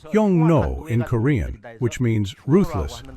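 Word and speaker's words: 흉노: vilified them with the name Xiongnu, which is pronounced Yongno in Korean, which means ruthless and savage slaves.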